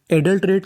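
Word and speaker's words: adulterate: और आखिरी में टी ई, यहाँ पे ई का उच्चारण करना नहीं। कहने का मतलब अगर आपको इंग्लिश की किसी भी मीनिंग के आखिर में ई लिखा मिले तो आपको ई का उच्चारण नहीं करना होता। तो मीनिंग बनी हमारी एडल्ट रेट, एडल्ट रेट।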